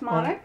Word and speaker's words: Monick: cage with the nationville casting couch here with Susie monic did I pronounce it right yes monic okay I have the most trouble with names